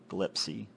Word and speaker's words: Gillespie: Looking over the scene in this rundown area of Lytton, you see Officer Mario Gillespie, or Gillespie, or Gillespie. I've been pronouncing it wrong. Gillespie, and a car with its trunk open.